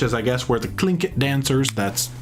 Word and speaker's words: Tlingit: You got the Heritage Center building, which is, I guess, where the Tlingit dancers, that's how you pronounce it. Starts with a T. Yeah. But it's pronounced Tlingit from my understanding. Tlingit.